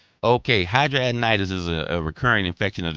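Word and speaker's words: hidradenitis: Is um Is there hydra- to pronounce it. It's hydradenitis. Is there anything natural that I can do cuz I don't do well with anybody. Okay, hydradenitis is a recurring infection of the skin that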